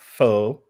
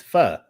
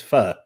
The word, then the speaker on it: pho: No, it's not pho. It's pho. The correct pronunciation is pho.